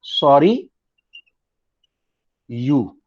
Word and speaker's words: Sorrieu: जिस साल ये लिबरल्स का रिवोल्यूशन हुआ उसी साल फ्रेडरिक SORRIEU आई थिंक इसका नाम है, और इसका प्रोनाउंसिएशन देखो कैसा है, सॉरी यू, ये इसका प्रोनाउंसिएशन.